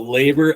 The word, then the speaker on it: LABR: a lot of labers and how do you pronounce that so labor l a r perfect awesome well thanks again